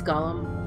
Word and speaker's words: golem: Ulysseal had their own golems, and is it Gollum or Gallum? It's Gollum. Well, I pronounce it Gollum anyway.